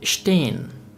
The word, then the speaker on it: stehen: The next letter combination is sp, and st, which is pronounced like the English word shp and sht. We have the example of word sprechen, which means to speak, and stehen, stehen, which means to stand.